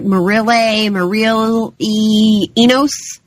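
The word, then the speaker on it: Mireille Enos: I always say her name wrong. It's like Marille Enos.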